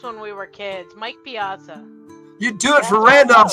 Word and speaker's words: Piazza: Bert will trade you a Wembley for a Pizzazza. Sounds like a fair trade, like in Dances with You're Wolves. saying it wrong. It's Piazza.